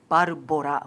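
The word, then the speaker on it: ばるぼら: In Japan is Barbora, which is Barbora. which tries to replicate the American pronunciation of Barbara.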